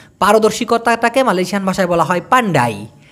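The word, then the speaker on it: pandai: Malaysian ভাষায় বলা হয় পান্ডাই পান্ডাই অনেকটা শুনতে পান্ডার মতো শোনা যায় তাই না পান্ডা ওই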